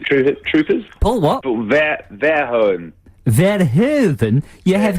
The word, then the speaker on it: Verhoeven: I'm thinking it's Paul Verhoeven with Starship Troopers. Paul what? Paul Verhoeven. Verhoeven? You have not pronounced the Verhoeven.